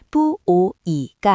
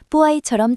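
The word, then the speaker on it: puoi: 발음할 때 뿌오이가 아니라 뿌아이처럼 자연스럽게 이어져야 합니다.이 역시 앞에 양모음들은 반모음처럼 발음된다는 점을 기억해 두세요.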